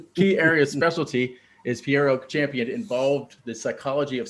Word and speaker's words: Pjero: So today we have Pjero. Is that how you say your name? Pjero? Pjero, silent Pjero. J. The J is silent, so I apologize for that. Pjero It's cool.